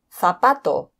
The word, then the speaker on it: zapato: And finally, we've got the Z pronounced like th in thick. Por ejemplo, zapato o manzana.